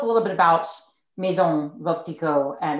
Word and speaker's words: Veuve Clicquot: So note the pronunciation, by the way, is Veuve Clicquot. It rhymes with love was the trick I was told here.